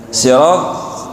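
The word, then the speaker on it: صراط: Th itu keluar dari mana gitu? Thonyongkan bacaan, tidak memonyongkan mulut. Karena dia bukan keluarnya huruf dari itu. Huruf th itu bukan keluar dari bibir dalam, tapi di dalam. Jadi menempelkan ujung lidah. Nah, pada gigi seri sirat th sirat. Jadi cukup sirat.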